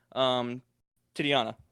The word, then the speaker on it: Titania: Titiana. Or Titiana. How do you pronounce it? Pretty sure it's Titania.